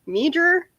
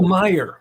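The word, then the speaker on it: Meijer: to um sorry i major or the grocery store that you like to go to oh myer my i'm sorry apparently you're not supposed to pronounce the j who knew uh actually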